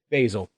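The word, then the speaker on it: Baesel: Basil.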